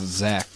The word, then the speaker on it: Zach: with an H is still pronounced Zach but it has an h on the end what makes you think